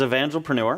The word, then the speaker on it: Evangelpreneur: It's Evangelpreneur. Evangelpreneur. Evangelpreneur. Okay. Evangelism and entrepreneurship. Evangelpreneur.